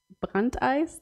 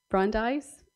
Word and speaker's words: Brandeis: to um Louis D bakant eyes that is my very German pronunciation um Brandeis okay um yeah who